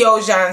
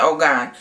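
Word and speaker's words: Ojon: and blow dried it, and I used the Ojan system. As you all know, I was pronouncing it wrong. I was calling it Ogan.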